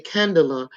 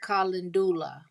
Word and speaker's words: calendula: pronounce it calendula. But Oh, I'm sorry, how you pronounce it? Calendula.